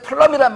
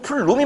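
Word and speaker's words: plume: 자, 여기에서 보면은 이제 화재 플럼이란 말 등장하거든요. 원래 이제 저도 플럼 하는데 발음은 플룸이 맞습니다.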